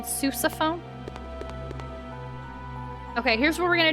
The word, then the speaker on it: sousaphone: Pronounced sousaphone? Oh, well, that's not nearly as fun. I thought it was a sussophone. Now I'm not interested. I wanted a sussophone, not a sousaphone.